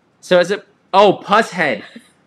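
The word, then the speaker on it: Pushead: It's not pronounced push head. I have a push head tattoo. I gotta know. How do you pronounce? So is it? Oh, puss head.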